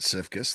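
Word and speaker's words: Siefkes: run uh in the past schematically under Sam Cifus. That's how you pronounce it. Cifus, the former Wford defensive coordinator.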